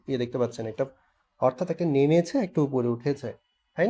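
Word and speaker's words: 你: Falling and rising, পড়ছে, উঠছে।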